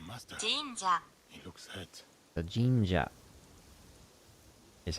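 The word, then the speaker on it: 神社: that the naginata master he looks at the Ginga is how you say Shrine in Japanese so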